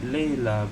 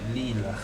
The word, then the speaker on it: Leela: That sound like Layla, but Leela.